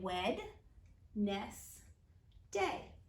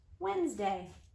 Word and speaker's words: Wednesday: help us spell it we say wet Ness day Wednesday how about the month what